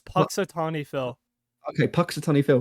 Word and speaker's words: Punxsutawney: like how do you say that it's it's Paton Phil okay Paton Phil Right yeah he has